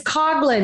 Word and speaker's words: Coughlin: to be here and your last name is cogin and we joked about it because I always